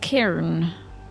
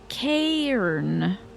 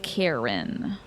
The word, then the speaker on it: cairn: Cairn is pronounced Cairn. A softer A than R in Karen. Cairn instead of Karen.